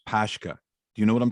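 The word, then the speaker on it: pączki: looks like a donut i think it's pronounced pashka do you know what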